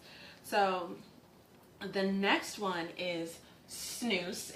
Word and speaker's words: snus: So the next one is snus. It's actually spelled S-N-U-S, but it's pronounced snus.